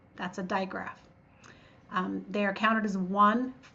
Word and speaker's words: digraph: A common mispronunciation of that word is digraph. It's not a diagraph, it's a digraph. Di means two and graph means written. So we have two letters together that make one sound.